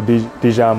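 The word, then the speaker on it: De'Jon: j o n uh my mom actually got it from the mustard bottle so dijan mustard so that's where it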